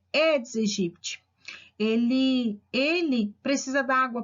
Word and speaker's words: Aedes aegypti: dengue para esse mosquito tem gente que chama de aedes aegyp mas né segundo alguns autores a pronúncia correta edes egipt ele ele precisa da